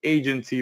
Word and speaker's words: AIgency: I'm introducing you today to Agency Valet. Uh the I is silent. All right. It's just there for pretty much uh visual aesthetics.